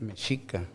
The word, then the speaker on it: Mexica: You know, every word, all the words are, they take the accent sound and the second to the last syllable. Like Mexica, Azteca, Mazatzin, Tenochtitlan, Totatzin.